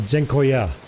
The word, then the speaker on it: dziękuję: Like, is the end longer or is the middle longer? In Dutch ambulance, the C is pronounced like Z. Dziękuję. So, dziękuję. Dziękuję. Not dziękuję. Second option. Dziękuję. With a long end.